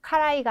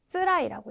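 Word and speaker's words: 辛い: 이거 매울 신자인데 괴롭다일 때는 그쵸, 카라이가 아니라 쓰라이라고 읽어주셔야 되겠죠. 또 여기에서 니가이는 뭐냐면 네, 니가이는 쓰다라고 하는 다른 단어이기 때문에 신자는 쓰라이가 되겠습니다.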